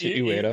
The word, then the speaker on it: Ueda: Fumito Ueda, is I don't know how to pronounce it. Ueda. Okay. It's Ueda.